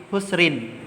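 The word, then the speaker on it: خسر: Nah, ditulisannya di sini ayatnya tertulis lafi husrin ya.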